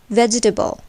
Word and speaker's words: vegetable: But in vegetable, where the first part is accented, table is shortened to table, and we say vegetable.